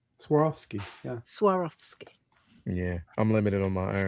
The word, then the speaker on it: Swarovski: Swarovski. Swarovski, yeah.